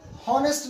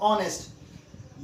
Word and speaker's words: honest: इसमें ये है एच, लेकिन इसको हॉनेस्ट नहीं पढ़ेंगे, इसको पढ़ेंगे हम लोग ऑनेस्ट। यहाँ पे एच साइलेंट है, तो यहाँ पे एच